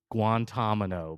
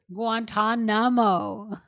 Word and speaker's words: Guantanamo: bay because they think Harold guano gu Guantanamo guanto Bay Guantanamo Guantanamo I knew I wasn't the only one